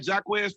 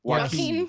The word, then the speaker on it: Joaquin: Am I saying that right? Jacquez Phoenix? Joaquin Phoenix.